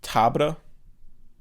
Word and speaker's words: Tabr: they go straight to I always read it as Siege Tabor, but in the movie they're saying Tabra because it's spelled Tabr. Okay. I'm just gonna say Siege Tabor because that's how I always said it, and that's how the audiobook says it. And Tabra sounds weird.